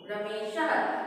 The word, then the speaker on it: रमेशः: और किसी भी रमेशः, ये विसर्ग पुट किया वहां पे, रमेशः। इसका उच्चारण ह की तरह होता है।